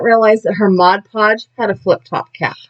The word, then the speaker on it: Mod Podge: not realize that her mod podge had a flip top cap yeah so i am using my i say it wrong every time modge podge no g mod podge mod podge to glue